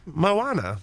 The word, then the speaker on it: Moana: San Andreas and Mona, his new Moana. Come Moana, on, dude. Mona, Are you kidding me?